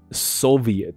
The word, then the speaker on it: Soviet: 好，所以苏俄叫做 Soviet，所以它的发音是 Soviet，那个 V I E T 是要